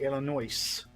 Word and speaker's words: Illinois: apologies oh i should have said it correctly illinois it what i will stab you trying to